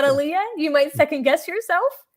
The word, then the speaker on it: Allea: matter of repetition like it's ally not aliyah you might second guess